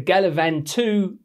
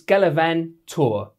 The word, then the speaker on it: Gallivan2R: first things first how do you pronounce the name of these new G4 shoes the galavan 2 Well turns out it's galavan tour of course it is if